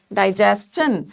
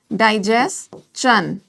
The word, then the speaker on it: digestion: Digestion and not shun. It's not digestion, it's digestion, and the same stands true for all these words. So what is your takeaway number 1? That these words which are ending with S-T-I-O-N, we are going to use chun sound while pronouncing them, but we are